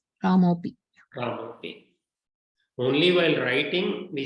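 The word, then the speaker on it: रामोऽपि: So in pronunciation, we don't pronounce it. It is still Ramopi. It is pronounced like this only. Ramopi.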